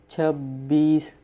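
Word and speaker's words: چھبیس: 26 Chhabbees. Chab and then bees.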